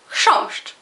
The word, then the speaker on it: chrząszcz: Y la palabra top, top, top, top, top es chrząszcz. Es una palabra monosilábica y bueno, solo tiene una vocal y entonces otra vez chrząszcz.